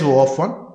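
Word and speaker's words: O(1): Order of 1. O means order. We should pronounce it as order of 1. You can also call it as O of 1.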